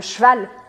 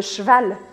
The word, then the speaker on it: cheval: falar para você é praticamente para você cortar a letra E. Então fica le cheval, le cheval, le cheval. E principalmente o plural é bem trabalhado dessa palavra. Porque un cheval, des chevaux, chevaux.